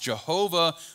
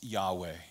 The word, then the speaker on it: Yahweh: letters YHWH or Yod-Heh-Vav-Heh, which is sometimes pronounced Jehovah, but more technically, I believe, is pronounced Yahweh.